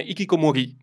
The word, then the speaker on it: hikikomori: sparivano dal nulla e quindi si utilizzava l'espressione hikikomori esattamente quindi con l'accento sulla i per definire queste persone che